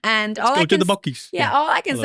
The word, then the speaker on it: Buc-ee's: people told us to go to something called Buc-ee's. And you kind of like a little Alabama twitch. Buc-ee's. Which we didn't I thought have. it was Busey.